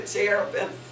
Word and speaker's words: cherubim: Remember the cherubims? Cherubims. It's spelled C-H-E-R, and it's pronounced cherubim.